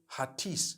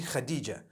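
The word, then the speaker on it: Hatice: In Turkish, some people spell it H-A-T-I-C-E. I would say Hatis for that. No, it's actually Khadija. In Turkish, that's the way they write it.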